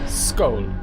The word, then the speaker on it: Skål: Skål? Skål. And that is everything. S, not sh.